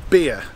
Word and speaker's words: Beer: going to go to a place called beer it's spelt exactly like beer the drink and it's just on